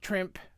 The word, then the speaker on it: Trimpe: So, Herb Trimpe, I call him Trimpe because the E is silent in English.